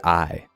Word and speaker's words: Ai: on our main character, I. As in, aye, Captain, but spelled the same as AI.